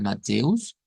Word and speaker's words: Mateus: Mateus en portugués pues se pronuncia parecido al español, ¿verdad? Bastante parecidos, nada más que es con una us al final, ¿verdad? Mateus.